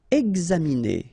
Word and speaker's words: examiner: Examiner, okay, it's interesting here because you've got this X and then you pronounce it gz, exa, examiner.